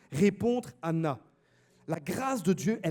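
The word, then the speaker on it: ענה: En hébreu également, le verbe répondre se dit Anna également. Ça ne s'écrit pas de la même manière, mais ça sonne de la même manière. Il n'y a pas de H avant.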